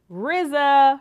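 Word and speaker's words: RZA: We're talking about The Man with the Iron Fist, which is written and directed by Rizza from the Wu Tang Clan. That's how you have to say his name.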